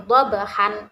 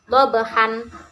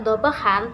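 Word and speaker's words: ضبحا: yaitu Bismillahirrohmanirrohim wal adiyati dhabhan. Nah, bacaannya kan dhabhan. Nah, seperti itu. Dilihat. Nah, cara membacanya yaitu wal adiyati dhabha. Bisa dipahami? Nah, sebab kita membaca tidak dhabhan tapi dhabha, mengapa?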